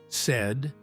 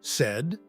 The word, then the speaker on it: said: Say, said, said. Pay, paid, paid. All three have the same past and past participle. But remember the pronunciations, lay, laid. Say, said.